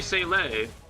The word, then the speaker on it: Seele: seeing two different things where the German is supposed to be Seele. It's a more rough pronunciation with the H at the end syllable.